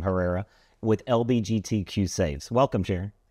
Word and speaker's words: Herrera: and so she told me that's how you pronounce her last name Herrera with LBGTQ saves welcome Shar thank you thank